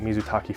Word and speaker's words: mizutaki: I pronounced it mizuake. It is not mizuake.